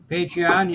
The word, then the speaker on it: Patreon: Is it Patreon? Patreon, yes.